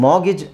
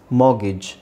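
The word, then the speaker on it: mortgage: ಅಂತ ಹೇಳಲ್ಲ ಮೊಯ್ಸನ್ ಇಲ್ನೋಡಿ ಮಾಗಿ ಇಲ್ಲಿ ಆರ್ ಸೈಲೆಂಟ್ ಆಗಿರುತ್ತೆ ಮಾರ್ ಅಂತಾನೂ ಹೇಳಬಹುದು ನೀವು ಮಾರ್ಗೀಜ್ ಅದೇ ನಾನು ಹೇಳಿದ್ನಲ್ಲ ಆರ್ ಯು ಕ್ಯಾನ್ ನೀವು ಸೈಲೆಂಟ್ ಮಾಡಬಹುದು ಬಿಡಬಹುದು ಬಟ್ ಟಿ ನ ಸೈಲೆಂಟ್ ಮಾಡ್ಲೇಬೇಕು ಮಾರ್ಗಿ ಅಂತನಾದ್ರೂ ಹೇಳಿ ಮೋಗಿಜ್ ಮೋಗಿಜ್ ಇಲ್ಲಿ ಜಿ ಎ ಸೌಂಡ್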